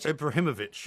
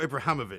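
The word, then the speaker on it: Ibrahimović: Ibrahimovic, not Ibrahimovic. Yes, Ibrahimovic for that pronunciation of his name.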